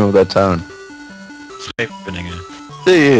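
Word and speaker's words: Scheveningen: Schepeningen.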